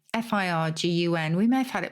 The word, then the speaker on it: firgun: And that is actually a Hebrew term, Firgun. F-I-R-G-U-N.